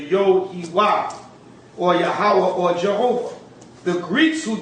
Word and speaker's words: Yahawah: God, the Most High, YAHAWAH, according to the ancient pronunciation. The ancient pronunciation would be Yahawah.